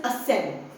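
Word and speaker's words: ascend: इट इज़ असेंड।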